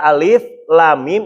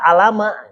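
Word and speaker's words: الم: Jadi ketika ada alif lam mim itu adalah huruf muqataah. Maka jangan dibaca alama tapi harus dipisah. Alif lam mim.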